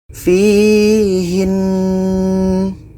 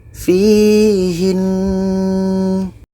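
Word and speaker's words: فيهنّ: Jadi jika kita berhenti, nun tasydid ini masih harus dinasalisasi ( ghunnah). Contoh : waman fihin fihin kita melakukan ghunnah pada nun tasydid sebelum berhenti, fihin.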